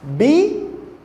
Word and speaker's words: bíceps: Se fosse proparoxítona, a divisão silábica ia ser assim, ó. Bíceps. Olha só. Que sílaba é essa? Tem isso não, gente. É bíceps. É fórceps.